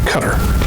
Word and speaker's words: Qatar: people are talking about that's how they pronounce their country cutter what what it's really called cutter it's interesting you know